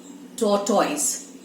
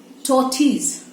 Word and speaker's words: tortoise: How do we say that? Tortoise. But what is the actual one? Tortoise.